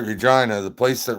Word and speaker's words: Regina: Yes, that's right, Regina, the place that rhymes with fun.